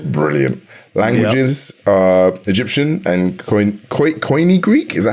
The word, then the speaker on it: Koine: Languages are Egyptian and Koine Greek.